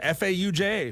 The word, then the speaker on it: Fauja: Fauja Singh. Probably how I would have said it. Fauja, F-A-U-J-A.